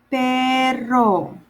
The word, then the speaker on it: perro: Perro. Dog. Perro. Perro. Remember when I say when you have in Spanish, you have two double R's, you kind of exaggerate the R sound a little bit.